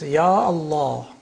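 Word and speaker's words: يا الله: But in one case, the alif is retained. It's Ya Allah.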